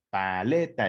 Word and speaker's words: paleta: Paleta es una palabra trisilábica, son de 3 sílabas, pero su sílaba tónica se encuentra ubicada en la penúltima sílaba, que es le. Está en rojo y los picos suenan más fuerte. Paleta, paleta, ¿sale?